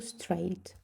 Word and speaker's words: straight: Така купа літер. Звук A. Go straight.